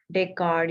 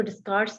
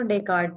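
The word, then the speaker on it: Descartes: Century का philosopher Renee डेकार्ड इसका नाम है, ठीक है। स्पेलिंग इसके डिस्कार्ड्स, लेकिन हमने इसको डिस्कार्ड्स नहीं पढ़ना, हमने इसको डेकार्ड पढ़ना है।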